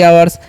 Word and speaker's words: hour: तो इसे हावर नहीं आवर पढ़ना है। एच जो है ना, इसका चयन नहीं किया जाता है यहाँ पर, ठीक है। तो ये आपको याद रखना है, एच साइलेंट होता है, ओके।